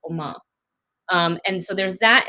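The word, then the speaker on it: Umma: i'm pronouncing this correctly oma like ma like how you say mom in korean but it's it's spelled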